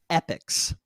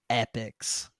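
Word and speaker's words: Epyx: video game company called epics now this is spelled really weirdly it's e-p-y-x epics very nineties name not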